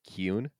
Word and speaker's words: Kieron: According to the audio drama narration, it is pronounced Kieron.